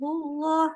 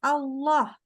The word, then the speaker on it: Allah: Lafaz Allah itu kita wajib tebalkan. Kapan tebalinnya? Ketika yang pertama dia jadi mubtada di awal kalimat. Jadi kalau depannya udah kata Allah aja tiba-tiba, misalkan Allahus Samad, misalkan ya. Dia di depan nih namanya mubtada. Maka kita bacanya Allah, bukan Allah, bukan Allah. Paham ya? Jadi dia harus ditebalkan. Allah.